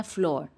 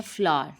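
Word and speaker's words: flour: English में बोलते हैं हम लोग बोलते हैं फ्लोर क्योंकि स्पेलिंग इसके वैसे हैं लेकिन इसकी करेक्ट प्रोनंसिएशन है फ्लावर जिस तरह से एक फूल की इंग्लिश होती है इसी तरह से हम इसे बोलेंगे फ्लावर फ्लावर next one is Budh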